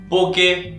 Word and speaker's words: Bokeh: जी हां, आज हम बात करने वाले हैं पोका, पोके, पुके। बहुत ही अलग अलग टाइप से लोग इसको प्रोनाउंस करते हैं, पर जो इसका सही प्रोनाउंसिएशन है वो है पोका, जिसको आप यूजुअली स्पेल करते हैं BOKEH।